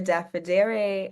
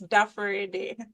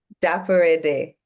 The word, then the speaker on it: Dafarede: Dafidere, I'm sure you'll have to correct me on some of that pronunciation. Good evening, everyone. It's Dafarede. Dafarede.